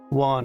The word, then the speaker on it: Juan: Juan rhymes with Ron and John.